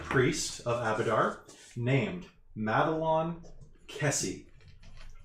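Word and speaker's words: Kesi: A Lashunta priest of Abadar named Madelon Kessie. Madelon is spelled Maid Lawn. Kessie is spelled like you'd expect Kessie to be spelled, but with slightly less letters. It's just K-E-S-I.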